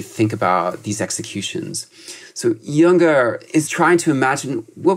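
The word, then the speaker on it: Jünger: And Junger, I think he's, Junger, to pronounce it the German way, I think he sees that respect.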